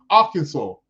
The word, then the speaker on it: Arkansas: That's how they pronounce it. Arkansas. You're right.